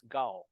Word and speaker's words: Kao: later on too but if you pronounce it Mom it's GAO go with the G and it's basically g-a-u or g-a-o instead of k-a-l so um when I